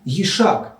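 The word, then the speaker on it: וַיִּשַּׁק: So you had to remember that what he did in the second line was he yishak that is kissed Rachel not yashk that is gave her water the letters didn't give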